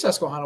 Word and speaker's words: Susquehanna: Is it not Susquehanna? It is Susquehanna.